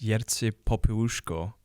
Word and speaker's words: Jerzy Popiełuszko: I'm probably going to mispronounce his name. Yeah. But I think it's Jerzy Popiełuszko.